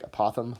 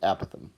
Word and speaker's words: apothem: angle this is the word apothem looks like apothem but we pronounce it apothem and that is just a fancy name for